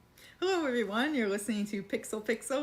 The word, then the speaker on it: Pixel x Pixel: everyone you're listening to pixel pixel where the x is silent but our love for games most definitely isn't this is episode 103 happy New Year first episode of 2023.